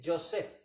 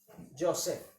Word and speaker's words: Yosef: José en hebreo significa, se dice Yosef. ¿Cómo se dice? Yosef.